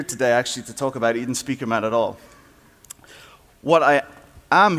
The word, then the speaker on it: Edenspiekermann: That's pronounced Edenspiekermann.